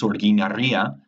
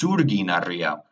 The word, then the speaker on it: Sorginaria: And in Basque, the word is Sorginaria, but Neville says Surginaria, which means the carpenter's stone.